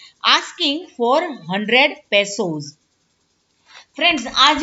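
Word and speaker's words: peso: उसका प्रोनाउंसिएशन कितना है, क्या है? पेसो।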